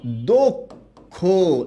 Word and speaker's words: দক্ষ: এটার উচ্চারণটা হবে এইরকম, যেহেতু অ আছে আর অ এর পরে খিও আছে, তাই এটার উচ্চারণটা হবে কি? দক্ষ।